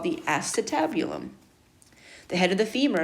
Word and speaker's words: acetabulum: know it is pronounced acetabulum and um the way that i remember that is it's close to your ass so acetabulum the other structure of